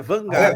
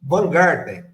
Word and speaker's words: Wajngarten: Tanto que é Van Garten, o Plío, o J a gente não fala, o J é mudo, então é Vangarden. É Van Garten, né?